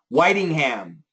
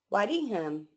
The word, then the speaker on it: Whitingham: Whitingham. Whitingham. It looks like Whittingham, right?